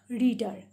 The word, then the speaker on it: reader: Here A is silent. R-E is only sounded. Okay, re and dar. In the same way with ER, by adding D, we can make the sound dar. Reader. Okay, two syllables.